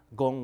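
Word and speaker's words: 功: gong, this is pronounced gong, and so the character is pronounced gong, which means result. It's gong as in kung fu.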